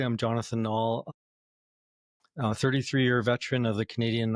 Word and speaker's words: Knaul: Knaul, the K is silent. Thank you. Knaul. Jonathan Knaul.